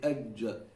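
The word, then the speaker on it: ج: People in English, they will say ja, ja. Where is it again? You feel it? It's in the front. Ja. You're putting your tongue against your palate there where we pronounce we, Zama, the Arabs. Where you pronounce the da. That's where you pronounce your dom. So you need to go further to the back and you say ajja.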